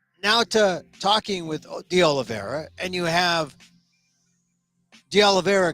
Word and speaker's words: Oliveira: now it's interesting because all the news guys have a hard time with Oliveira's it's just Oliveira but it's because it's a d aloe vera but because it's spelled o-l-i-v Olive and then Vera is v-e-i-r-a they don't understand I've heard the Olivero the Olivera the olive the Oliveira it's the Oliveira it's you know it's